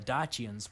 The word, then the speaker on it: Dacia: I've heard it pronounced Dacia. That's how I would pronounce it. Of course, if you're pronouncing it as they would have at the time, it would be Dacia.